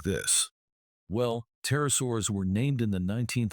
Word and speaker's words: pterosaur: First off, the P is silent. So, we don't say Peter Our. The first syllable is just tur.